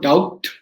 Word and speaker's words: doubt: e t simple d when you say doubtful right d o b t or doubt i don't go doubt the b is silent so if you look